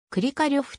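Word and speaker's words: クリカリョフ: 生の日本語表記は一般にはクリかレフが広くも用いられるがアクセントありのであるためくりか呂布と表記するのがロシア語での発音により忠実であるくりかレフはロシア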